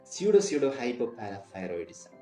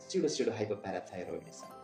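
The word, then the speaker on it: pseudohypoparathyroidism: സ്യൂഡോ ഹൈപ്പോപാരാതൈറോയിഡിസം. സ്യൂഡോ ഹൈപ്പോപാരാതൈറോയിഡിസം.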